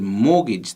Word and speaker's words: mortgage: a mortgage before but you'll notice that in the word mortgage there's no t but there is when you spell it so mortgage is spelt like this mor T G a GE now if you understand